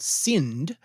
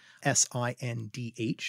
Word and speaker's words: Sindh: The area, which is called Sindh, S-I-N-D-H, and so there's one of those aspirated D's for you, Sindh.